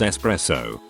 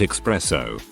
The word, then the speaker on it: espresso: texture and the taste it's espresso not expresso niche is pronounced niche